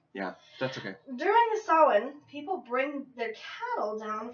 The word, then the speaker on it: Samhain: Sam ha s m h a i n pronounced sin or even sain if you're uh have a actually Celtic s